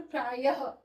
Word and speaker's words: प्रायः: अब जैसे कि उदाहरण के तौर पे मैंने लिखा है यहां पे प्रायः इसका हम उच्चारण कैसे करते हैं? प्रायः यहां पे प्रातः ध्वनि आ रही है ना ह की।